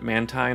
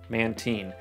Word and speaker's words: Mantine: doing some research, but it is a combination of manta ray and like the marine, marine biology, so Mantine.